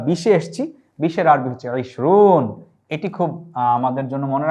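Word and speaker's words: عشرون: 20-এর আরবি হচ্ছে ইশরুন। এটি খুব আমাদের জন্য মনে রাখা সহজ। ইশরুন অর্থ 20, এখানটায় আমরা উচ্চারণ দিয়েছি।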